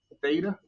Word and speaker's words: theta: to be that this is going to be pronounced theta and it's an angle so i'm going to